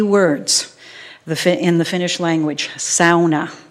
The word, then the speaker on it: sauna: Many of non-Finns know two key words in the Finnish language: sauna. Sauna is the correct pronunciation.